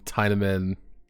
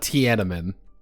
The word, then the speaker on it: Tiedemann: Okay, this is gonna be me, like, action Tiedemann. Not Tiananmen. Tiedemann.